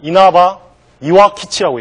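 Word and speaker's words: 稲葉岩吉: 그래서 이제 도협 그러면 이제 벼 입학이라는 뜻인데 저 발음을 일본 발음으로는 이나바 이와키치라고 얘기를 합니다.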